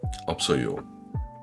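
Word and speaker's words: 없어요: en a pas Et c'est écrit ops o parler opsoyo. Le b et le s de ops se repartissent entre les deux syllabes opsoyez le principe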